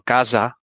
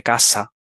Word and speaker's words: casa: que pronuncie, por ejemplo, casa en lugar de casa. típico. Sí. Pues eso, explicarles bien que la S simple es como si fuese una doble S en Ujú, francés, ¿no?